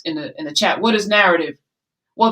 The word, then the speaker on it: Knarrative: the chat what is narrative well the k is silent like knowledge you're gonna know some